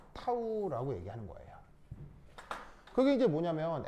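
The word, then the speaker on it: τ: 자, 얘는 이거 뭐냐면 극소 부피 변화를 최적소라고 하는데 그걸 이제 어떻게 표현하냐면 바로 d 타우 이렇게 쓰고 얘를 이럴 때 뭐라고 읽냐면 타우 이렇게 읽습니다. 타우.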